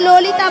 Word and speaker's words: ললিতা: বলো ললিতা, ভালো করে উচ্চারণটা করো ঠিকঠাক করে।